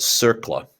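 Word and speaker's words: CERCLA: going to consume now this one's pronounced circle okay comprehensive environmental response compensation liability act you know what don't even bother just just remember circle now circle here's what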